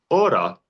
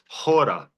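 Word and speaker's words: ὥρα: So for instance, one word like the last word in this vocabulary is ora. The way the ancients would have pronounced it is hora. That's where we get hour from. And that's why even now the word hour in English has a silent H.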